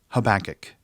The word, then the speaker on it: Habakkuk: couple words about pronunciation the book of habakkuk kind of gets special treatment in the song but it's simply pronounced habakkuk and haggai is just a